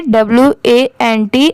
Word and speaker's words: want: जैसे WANT अगर कहीं पर ये लिखा रहा तो इसे went मत पढ़िएगा, इसे want पढ़ते हैं।